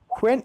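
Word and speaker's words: one: है ठीक है next the Wavell O वन इट जज ए W sound वन way street और जब कि यह वावल में क्या होता है ओ की बात करेंगे ओ वन वन लिखा गया वन वे स्ट्रीट वन तो व आ गया व आ गया मतलब य क्या कंसंट का इस्तेमाल हुआ तो ए इस्तेमाल होगा एवन वे स्ट्रीट ए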